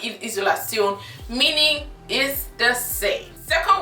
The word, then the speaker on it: Isolation: pronounce it, guess, Isolation, because S in English is pronounced Z in German, and Tion is not schon, it is Tion. So it's pronounced Isolation, meaning is the same.